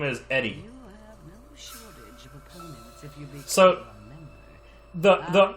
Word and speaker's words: Eri: girl her name is Eddie OPP the the r is is is uh the r is pronounced quickly enough that it kind of sounds like a d stop by the AO